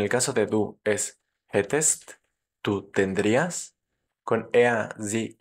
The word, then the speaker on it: hätte: Muy importante que esa A, como tiene umlaut, sea pronunciada como una E y no como una A, para no confundirla con el pretérito de haben, o sea, hatte, yo tuve, yo tenía.